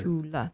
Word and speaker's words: Jula: Jula is kind of more like a phonetic, helpful for English speakers to say it. Okay, so that's not really how it's spelled. It's really supposed to be spelled like or A. Like God. Jula. The C makes like a CH.